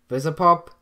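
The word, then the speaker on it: Vivziepop: Daniel, how do you pronounce her name? Vizipop.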